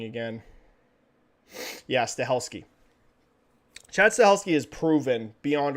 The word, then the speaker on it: Stahelski: Chad, I don't remember how to pronounce his last name, Zahelski or whatever. How the freaking heck do you pronounce this dude's name again? Oops. Stahelski, right? Am I saying that right?